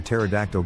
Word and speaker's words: pterodactyl: can you never hear pterodactyl go to toilet because the p is silent I told my wife